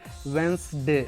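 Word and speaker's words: Wednesday: हम इसको पढ़ते हैं वेंसडे।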